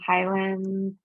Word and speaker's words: Highlands: good question mark right locals say Highlands some people say Highland I know being born and raised here in Colorado we always call it Highlands um I'm gonna head